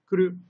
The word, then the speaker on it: 来る: So please notice here that the pronunciation of this character changes from ku to ko. But the way it's written is the exact same, so you'll just have to kind of remember.